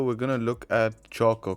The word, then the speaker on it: CHoCH: going to look at chalk or koch whatever you want to call it but i think it's pronounced chalk and it stands for